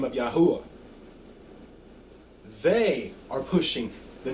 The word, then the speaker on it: YaHuWaH: all time, Ahmed Deedat, admits in his book, The Name of God, that YaHuWaH is the correct pronunciation and that he knows this according to what he knows about Hebrew and Arabic.